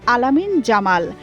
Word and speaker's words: Lamine Yamal: যেই মাঠ মেসি ছেড়েছে বেদনার চোখের জলে ভিজিয়ে সেই মাঠে শুকরিয়ার সিজদা দিলেন লামিনে ইয়ামাল যাকে অনেকেই ডাকেন আলামিন জামাল আরবিতে এটাই শুদ্ধ উচ্চারণ যুবক লিওনেল মেসির কোলে